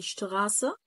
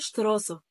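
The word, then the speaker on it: Straße: يعني انت عندك اهو ادي شتغاسه شارع، اتنطقت هنا غين شتغاسه، ما ينفعش اقول شتراسه، ما ينفعش.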